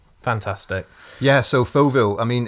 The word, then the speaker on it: Fauxville: DK Pike on the podcast tonight, and we're here to promote his book, Fauxville. Is that the correct pronunciation of the book?